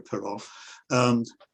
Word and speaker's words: Perak: spelled it Peral rather than Perak, but it's pronounced as you know, Peral, eventually became under sort of British, or had a British advisor anyway.